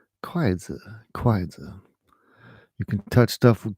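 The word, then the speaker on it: 筷子: How do you say chopsticks in China? Kwaizi.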